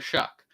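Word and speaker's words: Shough: And I guess he came out and said like it's pronounced Shuck. And I was like, okay. So, his name's Tyler Shuck.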